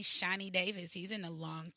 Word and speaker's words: Shani: to me his name Shani Davis he's in a long track speed shiny spell shiny for me shiny Oh like shiny I'm not judging we